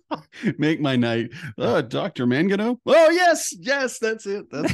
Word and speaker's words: Mangino: It's Mangino. Please say Mangino. Make my night. Dr. Mangino?